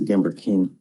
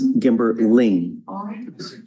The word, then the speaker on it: Gamberling: a name change because it says Gamber King, and it needs to be Gamberling. And what's the name change? I heard people already. It's Gamberling. RLIN. That's how it's spelled.